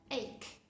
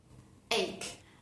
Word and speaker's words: ache: Por ejemplo, en las palabras chemist, chemist, o en la palabra ache, ache.